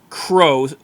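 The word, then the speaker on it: Crux: They're now called Crow, but they spell it C-R-U-X for whatever reason.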